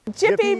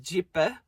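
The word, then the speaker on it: Gjipe: beach we'd been looking forward to the most, Jippy Beach. So, to our Albanian friends, apologies. We know it's actually pronounced Jipper.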